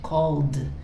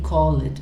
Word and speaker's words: called: So you see that, remember this pronunciation, called. You never say call it. I keep telling my students that, please, it's not call it. It's called, right?